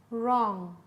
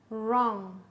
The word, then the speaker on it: wrong: Knee, knee, knife, knife, knit, knit, wrist, wrist, right, right, wrong, wrong.